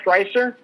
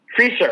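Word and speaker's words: Frycer: um from hockey we lost a maple a maple leaf uh do you remember miroslav freister freezer freezer i'm sorry that's correct i mispronounced it yeah yeah i remember um you passed away at the age of 61.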